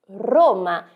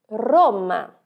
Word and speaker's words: Roma: nós temos em italiano Roma perceba que a sua língua no italiano ela sobe e treme Roma Roma guerra em português